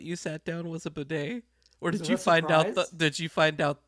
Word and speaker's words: bidet: I'm looking at you the bidet is that how it's pronounced yeah that's right but whoever bidet whoever was the sicko